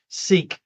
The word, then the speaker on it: Sikh: i kh it's how they spell it it's pronounced seeik all right and so uh a lot of